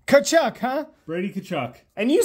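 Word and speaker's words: Tkachuk: kachuck CH kachuck yes the tea is silent kachuck huh Brady kachuck and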